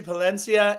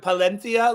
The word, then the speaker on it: Palencia: thinking last night with palenia like every single time I get it what you were trying to do there bud but every single time I've ever seen his name pronounced uh it's been Palencia which was I mean